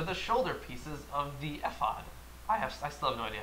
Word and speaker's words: ephod: I think ephod I like. I'm not quite sure. I have no opinion. E-P-H? Yeah. Ephod. F. Just make an F noise.